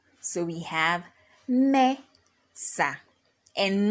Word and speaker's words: Mesa: we have Mesa now Mesa has two syllables which are me and sa also Mesa ends with a vowel which is a the a vowel and we have already established that any word that ends with a vowel the stress falls on the penultimate syllable and in this case